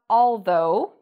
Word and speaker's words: although: So O-U-G-H sometimes is pronounced like O. What are some other words that have this pronunciation? We have although, thorough, and dough.